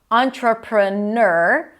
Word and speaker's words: entrepreneur: ch sound tr and then you have three options either nur in my opinion that's the easiest for someone just trying to learn this word entrepreneur. And the second option is entrepreneur or as in tour. Entrepreneur. And the third option is your with a Y sound before the or entrepreneur.